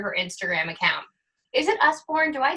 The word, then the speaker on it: Usborne: Is it Usborne?